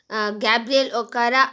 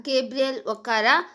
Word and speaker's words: Gabriel Okara: nigerian poet gabriel okara the pronunciation of the poet gabriel okara or gabriel okara both are accepted he was born in